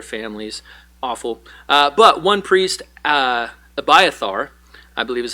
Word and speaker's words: Abiathar: But one priest, Abiathar, I believe is how you say his name, was able to escape, goes and finds David, informs him of what happened.